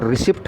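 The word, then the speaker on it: receipt: प्रसिद्ध प्रसिद्ध कम्स आम तौर पर क्या कहते रिसिप्ट कहते हैं इसको स्पेलिंग से लगा है फ्रंट कि यह मैंने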